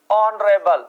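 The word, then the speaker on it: honourable: इज नॉट नरे बल यहां H silent है इसका उच्चारण किससे आ रहा है भाई नरेल किससे आ रहा है ए से आ रहा है और ए क्या है भाई प्रोनाउंस किससे निकल रहा है ओवल से तो यहां भी आप किसका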